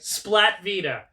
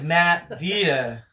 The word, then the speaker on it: Matt Vita: um I get the people get my name wrong a lot which is like crazy like Splat Vita my name is Matt Vita I get Mike a